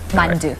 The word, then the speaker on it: 만두: Mandu. Mandu.